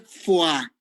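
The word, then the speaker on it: Foix: ver que duele eso se llama maniobra de fuá se escribe folk pero se llama fue la maniobra de fuga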